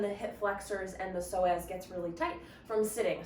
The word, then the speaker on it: psoas: One of your hip flexors is your psoas. You maybe have heard of the psoas before. If you've ever seen it written, it has a silent P in front of it.